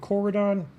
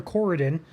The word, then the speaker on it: Corydon: Otherwise, looking down toward Corydon or Corydon, another pronunciation there.